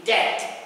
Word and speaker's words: debt: cards can go into debt quickly remember the B is silent so you don't say